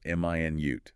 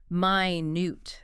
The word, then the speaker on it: minute: This one depends on stress, right? Stress on the first syllable. M i nute. That's the unit of time 60 seconds. Stress on the second syllable minute. That's the adjective meaning very very small tiny.